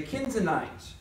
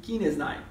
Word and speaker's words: Kenizzite: That's the best way I can pronounce it, all right. I think that's a long E there. Kenizzite.